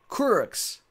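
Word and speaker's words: Kurucs: out of 99 Redemption Couric's teen that's how you say his name for the Brooklyn Nets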